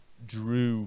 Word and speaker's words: drew: E no passado, draw se transforma em drew. Muito cuidado. EW no final de um verbo, de uma palavra qualquer na língua inglesa. A regra manda, pronuncia-se U, tá bom?